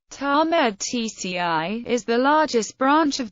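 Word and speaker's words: Tatmadaw: The Myanmar Army, pronounced Tamed TCI, is the largest branch of the armed forces of Myanmar and has the primary responsibility of conducting land-based military operations.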